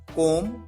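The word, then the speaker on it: comb: king कि बाल बनाना कॉम कॉम डॉट कॉम कूमिंग यहां पर ध्यान रखें 20 साइलेंट होता है बी का साउंड नहीं आता है कॉम के लाना प्रेम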